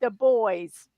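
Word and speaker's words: Dubois: we said, how do you say this? They go, it's the boys.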